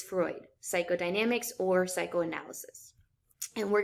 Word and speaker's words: Freud: in our class so the first is sigmund freud freud is how you pronounce that last name sigmund freud is one